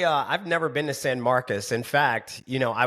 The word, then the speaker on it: San Marcos: Because I'm pronouncing it the way that you would say it in Spanish. San Marcos, right? And they were like, "No, it's San Marcus." Like Marcus, not Marcos.